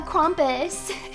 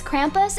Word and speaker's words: Krampus: we have to watch uh crompus is it crompus or Krampus if it's Krampus then I've been saying it wrong all this time oh what is this it's okay I took care of it okay with my Godly powers it's cramp it's Krampus it's Krampus is it actually crampus